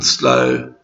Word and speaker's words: slow: We do not double the W in slower and slowest because the W in slow is silent. So the word is pronounced like slow without a W at the end.